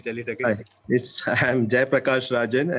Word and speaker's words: Zayapragassarazan: Hi, I'm Jayapragassarazan. Actually, it's written in French. So in Puducherry, we have the custom of writing spelling in French. Okay. So you can pronounce it as Zaya. No problem.